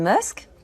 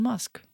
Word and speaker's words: Musk: Bonjour Elon Musk. Bonjour. Bonjour, Elon Musk. Bonjour. Здравствуйте, Илон Маск. Здравствуйте. Обратите внимание, как она произносит фамилию. Не Маск, а Musk. Букву «ю» в англицизмах французы произносят как «э».